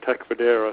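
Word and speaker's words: Tecfidera: a few months ago so the uh the pronunciation is Tech federa sorry and to make sure everybody is aware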